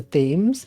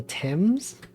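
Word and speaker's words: Thames: do you know the the river in England which is spelled t h m s it's not the themes it's the temps why is that the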